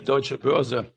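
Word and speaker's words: Deutsche Börse: So Christoph, please help me correct if I pronounce the company name wrong. Okay, the company name is the Deutsche Boerse.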